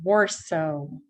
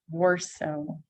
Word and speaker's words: Warsaw: If you know that city, если вам знаком этот город, мы говорим его Warsaw. Warsaw.